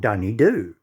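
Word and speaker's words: Dunedoo: kanowindra and canondra and we also have a town called dunny do now you say dunny do yeah well a dunny is a toilet and what you do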